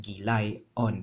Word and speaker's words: gilayon: So gilayas-on is too much for us to say. Instead, we delete the last syllable, which is as, right?